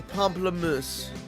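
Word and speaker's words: pamplemousse: comfortably um proper pronunciation as best a non-french speaker can say would be pomplamoose now I'm sure a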